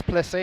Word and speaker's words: Plessé: I guess Plessé is how you say it there.